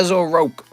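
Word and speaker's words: Zoroark: zoroak look at that as a rock that's his real name that's how it's pronounced uh we've got rk9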